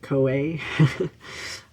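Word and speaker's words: Koe: you my name is coy um or to help you pronounce it co-a um it's the japanese word for voice because i felt like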